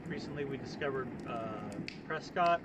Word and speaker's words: Prescott: Um, but then like recently we discovered uh Prescott or Prescat I think is how they the uh the locals say it. Uh Prescuit, Arizona, which is at like over 5,000 ft.